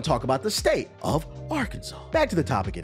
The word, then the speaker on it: Arkansas: the states Kansas and Arkansas for example Kansas is pronounced Kansas Arkansas is Kansas with an AR in the front so you would think it'd be pronounced AR Kansas but Noe it's Arkansas